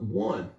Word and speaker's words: one: It's funny how we pronounce this like it's a W at the beginning, like one, W-O-N-E. Like if you put L at the beginning of that, it would be long.